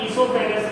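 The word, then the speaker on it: oesophagus: ये स्टार्ट ओ से होता है बट इसको प्रोनाउंस हम ईसोफेगस करते हैं। तो इसमें क्या होता है, ओ इज साइलेंट, तो इसकी स्पेलिंग में बहुत मिस्टेक्स होती है।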